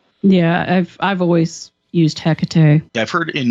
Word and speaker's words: Hecate: i've i've always used hecate i've heard in like with especially greek pronunciations it being like the h kind of gets dropped a little bit it becomes more of like a ekate kind of a thing